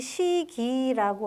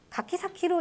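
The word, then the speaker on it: 柿崎: 여기도 한자로 쓴 이유는 이걸 시기라고 한국식 발음을 할게 아니라 다르게 읽어야 된다는 뜻일 거라서 가키 사키로 읽어야 된다 이게 이제 정설입니다 가키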